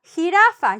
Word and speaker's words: jirafa: It's because this J is pronounced like an H. Ha, ha, ha, ha. Jeringa, jirafa, giraffe, jirafa.